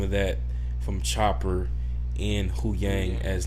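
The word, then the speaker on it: Huyang: I'm saying his name wrong, I think. Hu Yang. Yeah, it's Hu Yang. Hu Yang. Okay, yeah. I'm pretty sure.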